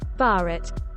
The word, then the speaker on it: Bharat: of the indus 63 the term bharat bharat pronounced bat listen mentioned in both indian